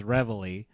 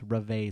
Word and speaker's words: Reveille: If you want to fully North Americanize it, it's Reveille. But I think it's like if you're going to keep some of the French pronunciation, it's Reveille Squad.